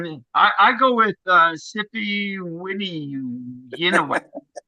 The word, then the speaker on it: Sipiwiyiniwak: So if you look at the actual word, you know the middle syllable y i like g, just skip that. Read the rest as it is. So c p we and then skip the other one. Kneew walk. C p we knew.